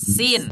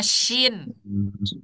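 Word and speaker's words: س: Ada huruf sin, misalkan. Nah, ini. Ada huruf sin. Tuh, sin yang tidak titik tiganya. Ya. Tapi kita bacanya shin. Betul nggak? Iya. Salah. Salah. Sin Makanya sama sin.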